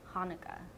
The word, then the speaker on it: Haneke: His name is Michael Haneke. Michael Haneke. Not Michael Haneke. It's Michael Haneke, like the holiday.